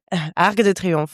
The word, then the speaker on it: Arc de Triomphe: How's my pronunciation of Arc de Triomphe? Uh well, very well. You say it. Arc de Triomphe.